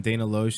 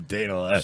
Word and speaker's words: Dana Loesch: So you saying that when Dana Loesch said that they love school shootings because of ratings, maybe she might have been right a little bit?